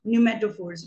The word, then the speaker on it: pneumatophores: P is silent, pneumatophores, which extend vertically above the ground so that they can breathe in.